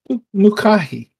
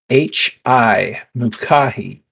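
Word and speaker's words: Mucahi: i i ever introduced myself my name is mukahi and uh this is this is my spa beautiful and i'm going to need you to spell that name for me m-u-c-a-h-i mukahi and her last name if you want it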